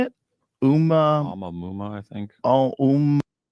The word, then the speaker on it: Oumuamua: Oumuamua, I think. Oh, Oumuamua, obviously.